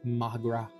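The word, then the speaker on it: mo ghrá: Come on, Mangra. Irish for my love. One dialect would pronounce it as Magra.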